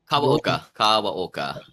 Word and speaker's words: Kawaoka: Kawaoka.